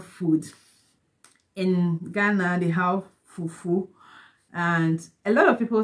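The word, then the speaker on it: fufuo: It's pronounced fufu, while it's written as fufu, f-u-f-u-o, fufu.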